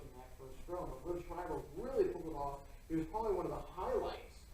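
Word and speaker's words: Liev Schreiber: Live, how do you pronounce his name? Liv Schreiber? Liv Schreiber.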